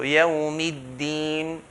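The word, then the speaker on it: يَوْمِ الدِّينِ: So yawmiddin, make sure the deen part is not pronounced in between fatha and kasra. So it's not yawmiddin, fatha, kasra, in between.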